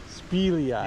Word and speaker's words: Speelyai: And how do you pronounce the name? Kokanee. No, of the hatchery. Oh, Speelyai. Speelyai.